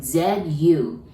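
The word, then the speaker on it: づ: D-U, do, doesn't exist in Japanese. So we pronounce it like Z-U, that's zu. So exactly same as a Z line, zu.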